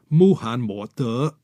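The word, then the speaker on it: 穆罕默德: Mohammed in Chinese is pronounced Muhan Mo De, using the character Mu instead of Ma.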